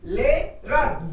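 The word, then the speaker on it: Lehrer: So for example, Lerer. H is silent in the middle.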